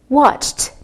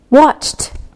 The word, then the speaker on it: watched: Watched, watched with the T sound.